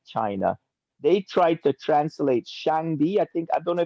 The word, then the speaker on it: Shangdi: tried to infiltrate China, they tried to translate Shangdi. I think, I don't know if I'm pronouncing it right.